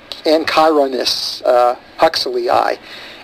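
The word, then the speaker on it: Anchiornis huxleyi: Well, this particular specimen, and hopefully I'm going to pronounce this right, it's Anchironus huxleyi.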